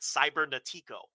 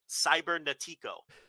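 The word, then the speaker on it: Cibernético: heard anybody say his name i used to pronounce that cyber natico cybernetics okay like a total gringo right cybernetico is what i would say speaking of which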